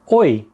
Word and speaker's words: oi: Not to be confused with the English oi, which according to the Oxford dictionary, it's used to attract someone's attention, especially in a rough or angry way. So, you don't want to do that. You want to say oi with a happy and upbeat intonation. Oi.